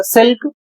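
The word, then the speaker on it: silk: इसे पढ़ा जाएगा सिल्क जिसकी हिंदी होती है रेशम।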